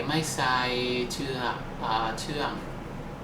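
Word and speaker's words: ไม่ใส่น้ำตาล: my sign of done and to say that in Thai you say my side to them okay so that's how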